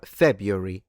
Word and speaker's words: February: So, Febru February. So, I stress it at the beginning.